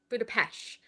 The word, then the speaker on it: Budapest: So I've heard two different pronunciations. Like there's Budapest and Budapest. And I think I always forget which one I actually say until I say it. And I'm pretty sure Budapest. They don't pronounce the T.